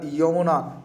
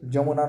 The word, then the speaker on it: Yamuna: Beside the river যমুনা বা যমুনা নদীর তীরে, YAMUNA, যমুনা উচ্চারণটা যমুনা। আবার আমরা বাংলায় যখন বলি যমুনা বলি, অ্যাকচুয়ালি ইংরেজি থেকে যখন বাংলায় উচ্চারণ করি তখন আমরা অনেক বিকৃত উচ্চারণ করি, কথাটা অ্যাকচুয়ালি যমুনা, কিন্তু আমরা সেটাকে বলি যমুনা।